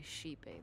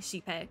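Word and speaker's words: Xipe: harmony this whole time I think I was saying shipei but that's how I was reading it but I didn't know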